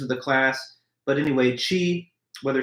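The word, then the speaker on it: qi: It's all made from the same life-giving substance called chi. Now, the spelling that sometimes you find is Q I, and that's the one that's used in our text. But, the pronunciation sounds like C H I, and you also sometimes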